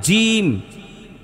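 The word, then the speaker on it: ج: রাখতে হবে আচ্ছা তাহলে জিম জিমের উচ্চারণ করতে গেলে বাতাসটা ভিতরে ধরে রাখার চেষ্টা করবেন তাইলে জিমটা মজবুত হবে জিম বলেন আর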